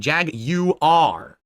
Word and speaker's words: Jaguar: Their new logo is Jaguar, emphasizing the British pronunciation Jag-U-R. Get it? It's not Jaguar or Jaguar, it's Jag-U-R.